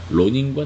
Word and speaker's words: 낭인: 없이 빈둥거리는 사람을 왜 생명으로 낭인이라고 부르는데 일본어 발음으로 로닌이다니 민비를 살해한 사건은 잘 알려져 있다 로닌과 낭인 이렇게 독자적인 경제력과 무장력을 합법적으로 갖추게 된